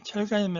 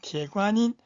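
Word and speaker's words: 铁观音: 여러분 잘 아시는 철관음 이제 철관음 하지 말고 재관인 중구 발음을 배우시기 바랍니다 그다음에 바이차 백차면 홍차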